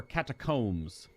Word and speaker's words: catacomb: I always thought these were catacombs, not a catacomb. Because C-O-M-B is comb. Even though it's still stupid because it's a B, you don't pronounce it because words are made up.